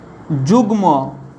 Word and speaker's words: যুগ্ম: গলন, এইভাবে মনে রাখবে, গ ল দন্তন্যর সঙ্গে যদি মফলা যোগ থাকে তাহলে তার উচ্চারণ ময়ের মতো হয়। কীরকম উচ্চারণ দেখো, যেমন লয়ের সঙ্গে যদি লিখি দেখো গুল্ম, লয়ের সঙ্গে গুল্ম, গয়ের সঙ্গে যুগ্ম, গয়ের সঙ্গে দেখো যুগ্ম,